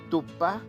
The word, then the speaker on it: tupa: que es oral, y la A, que es nasal, así como arrugando la nariz. A, A. Bien, Tupá, que significa cama, se escribe con la A oral, Tupá, así como está escrito aquí. Y si vamos a referirnos a la figura de Dios, a la divinidad, es Tupá, con la letra A, la A nasal.